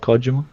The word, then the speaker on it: Kojima: No, fuck Konami, I love Kojima. Kojima? Is that how you say it? Is that the correct Japanese that's actually how pronunciation?